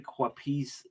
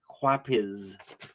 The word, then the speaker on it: Quapiz: That's not an E. Gary Quapis. It's a Z. It's Gary Quapiz.